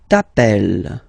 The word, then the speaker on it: t'appelles: Alright, second form, tu t'appelles. Okay, remember, final S not pronounced. Tu t'appelles.